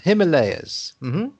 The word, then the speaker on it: Himalayas: you write it so you need to be careful how you pronounce that layers there we are himalayas yeah himalayas so uh